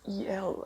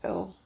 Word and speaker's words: El: ones, silly ones, like L is spelled E-L, and I don't know why I used to pronounce it as E-L. I used to call that sculpt E-L, don't ask me why. I did figure out that it's called L afterwards. But yeah, so that's another